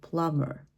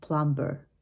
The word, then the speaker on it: plumber: silent in this case also the letter B can be silent like in the word plumber all right but we might say it plumber at the beginning but